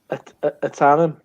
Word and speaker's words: Ahtanum: Simcoe Centennial and a Tannum, which I was told by TV Sarah Warman how to pronounce it was if it's like it's a tanning salon owned by a Geordie.